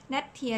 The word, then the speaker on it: แนทเทียร์: คอมเมนท์ มาก ๆ เลย ก็ คือ อ่าน ว่า ว่า เป็น ชื่อ ยี่ห้อ หรือ เขา เรียก ว่า ชื่อ ยี่ห้อ นั่น แหละ เนาะ แนท เทีย อยู่ ดี น้ำ ตา เทียม บรรเทา